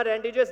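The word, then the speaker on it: rendezvous: हम आज उसी थीम के साथ आपके सामने आए हैं कि हम, रेंडेव्यू इज अ फ्रेंच वर्ड, लिखा हुआ रेंडेव्यूस दिखाई देगा लेकिन इसे प्रोनाउंसिएशन रेंडेव्यू है।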